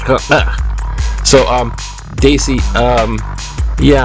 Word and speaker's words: Kahuku: Look at this. Kind of like closer to actual Hawaiian pronunciation. Kahuku.